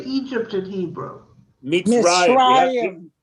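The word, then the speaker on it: מצרים: Mitzrayim. Mitzrayim.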